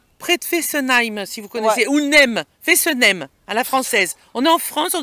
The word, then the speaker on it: Fessenheim: Fessenheim, à la française. On est en France, on doit le dire à la française. Fessenheim. D'accord.